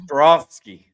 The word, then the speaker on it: Ostrowski: Ostroski. Ostroski. There's a lot of ways to pronounce it, so just call me.